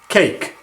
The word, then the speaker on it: cake: you see this pattern, A followed by E at the end of the word, the A says its name. So the word becomes cake, and the E is silent.